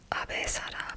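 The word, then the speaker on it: Abe Sada: nation was gripped with Abe-sada panic, which is, the Japanese pronunciation of her name. Last name, then first name.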